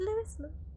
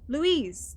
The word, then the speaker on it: Louise: Is it Louis? Louise? Louise! That's it!